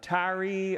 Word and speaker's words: Tyre: he travels to is uh tyree or tyre some people pronounce it and sidon and